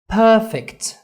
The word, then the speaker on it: perfect: قدرت تسمع ان في الاول مقطع لفظي لو انت ملاحظ perfect عملت stress on the first syllable على أول مقطع لفظي بالنسبة لنا، وده ساعدني في إيه؟